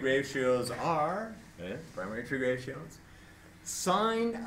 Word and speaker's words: sine: Sine of A, which is abbreviated S-I-N, but is pronounced sine.